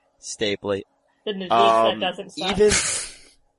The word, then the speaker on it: Stapley: It's the fact that the Kim Spradlin way, the Denise Stapley way, how do you pronounce that name? Stapley.